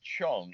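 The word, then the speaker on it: Zhang: for now now the person behind it Livia Chong even though it's spelled z h NG it's pronounced Chong a dear friend I met her at the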